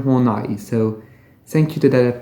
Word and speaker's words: Horney: pronouncing it wrong so it's not Karen horny as I thought but Karen hornai so thank you to